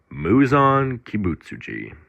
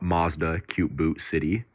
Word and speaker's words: Muzan Kibutsuji: Muzan Kibutsuji is a character whose name I will only pronounce once correctly, partly out of rage, partly